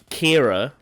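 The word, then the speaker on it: Qi'ra: of that doesn't be Kira which is spelled Qi apostrophe RA which is very strange it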